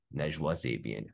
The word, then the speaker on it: Najwa Zebian: Please welcome the persistent, resilient, and wise, the beautiful, brilliant, and soulful Najwa Zebian. How you doing, Najwa? Great. And you pronounced my name perfectly.